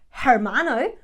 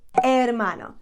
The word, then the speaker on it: hermano: for example the H the H is always silent we don't say hamburgasa we say we don't say hermano we say hermano so don't pronounce that